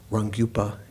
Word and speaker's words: Rangyupa: Rangyupa is how you say Svatantrika in Tibetan. Like Sva, Rang, self, and Gyu also means Tantra, means continuum.